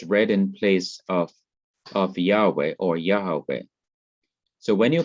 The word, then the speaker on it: Yahweh: divine name yahweh or yahweh is thought to be the correct pronunciation of god's personal name but when the inseparable